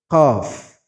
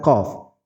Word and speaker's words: qaf: Padahal dalam bahasa Arab, qaf itu berbeda dengan kaf. Qaf itu makhrajnya ada di pangkal lidah. Dia sudah mendekati tenggorokan, pangkal lidah.